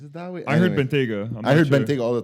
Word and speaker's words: Bentayga: Not Bentayga? No. From what I know, it's Bentayga.